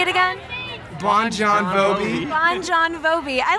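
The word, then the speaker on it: Bon Jovi: his place what about you guys we think Bon joh and we say we say it that way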